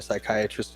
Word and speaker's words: psychiatrist: Probably why can't you hear a psychiatrist in the bathroom because the P is silent.